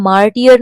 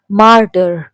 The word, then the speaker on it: martyr: का मीनिंग है शहीद इसे हम मार्टियल नहीं पढ़ेंगे मार्टायरल इट प्रोनाउंस मार्टर इसमें दो क्वेश्चन दिए